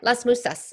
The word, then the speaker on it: Las Musas: we're both going to be at, am I pronouncing this right? The Las Musas? Yeah, Las Musas.